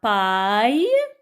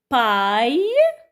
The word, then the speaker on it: paille: Le portail, la paille, des rails, un éventail et la volaille. Lisons avec moi, les enfants, ces syllabes. Paille. Alors, A-I-L se prononce aïe avec P.